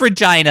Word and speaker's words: Regina: Yeah, it's pronounced Regina. Absolutely. This was filmed in Canada, wasn't it? That's how they pronounce the city in Canada.